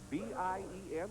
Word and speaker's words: Bien: bien figueroa it's b-i-e-n pronounced bien figueroa batting 270 alex o'ha at second